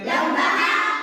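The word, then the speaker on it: ح: বুঝেন নাই খেয়াল করেন লম্বা হা উচ্চারণে গলার মধ্যে শোষ করে শব্দ হবে লম্বা হা শোষ করে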